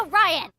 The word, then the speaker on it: Orion: exactly where's that uh it's pronounced and it's pronounced Orion well maybe green orans blue Orion so go